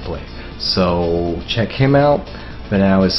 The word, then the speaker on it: Vanao: Vanao is spelled V-A-N-A-O.